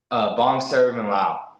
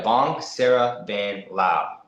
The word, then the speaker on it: Vongsaravanhlao: Vongsaravanhlao. Put that in there, Vongsarvanhlao, and man, you'll get the Lao community behind you, right, Co? Yeah. There you go. Vong. Was it Vong? VONG? Yeah, Vongsaravanhlao.